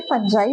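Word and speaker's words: fungi: तो आज का टॉपिक है फंजाई। बहुत सारे बच्चे से फंगी पढ़ते हैं बट इसका प्रोनाउंसिएशन फंजाई होता है, ठीक है, फंजी बोलेंगे हम।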